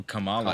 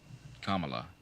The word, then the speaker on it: Kamala: I don't know who Kamala is but if it's Kamala you're referring to then yes what did I say Kamala it's Kamala Kamala Kamala like Pamela Vanessa join I mean I